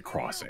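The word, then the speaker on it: Xing: I used to pronounce it as zing. But it took me a while to realize that it's supposed to say crossing.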